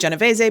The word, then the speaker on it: Genovese: Just to note that there are a lot of ways to pronounce Anna's last name. I'm going with Genovese because that's how you pronounce it in Italian.